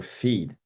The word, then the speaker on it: F3EAD: in military circles by its acronym F3EAD, or FEED, as it's pronounced.